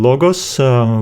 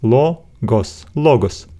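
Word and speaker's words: λόγος: have only two syllables now let's break them down logos we see the bubble here so always believe the syllable after it law goes we cannot split another syllable here otherwise our final Sigma will stand on and so on and will not have vowel so this is why we have only two syllables law goes logos a word another word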